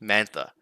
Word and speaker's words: Mantha: scratch his name is Anthony mantha Five Points name rhymes with schmann finish man and yes